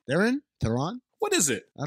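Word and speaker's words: Theron: okay there you go we also get Charlie Thon theen Thon what is it I don't know Maz what is it it's Theon it's Theon that's Theon pronunciation I mean you want to look up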